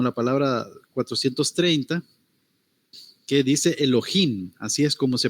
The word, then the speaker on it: Elohim: este es como la palabra 430 que dice Elohim Así es como se pronuncia es plural dice dioses en el sentido